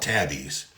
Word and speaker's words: Tabeeze: They're called Tabbies. And it's spelled Tabeeze, like tabs meet breeze, because it's a breeze.